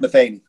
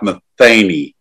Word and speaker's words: Metheny: I hate that Pat Metheny. All right, Les. Is it Pat Metheny or Pat Metheny?